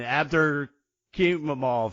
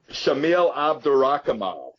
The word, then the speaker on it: Shamil Abdurakhimov: And maybe you can help me pronounce this guy's name, Abdur Kimamov or something. What's going on in that fight? Shamil Abdurakhimov. Yeah, that's what I was trying to say.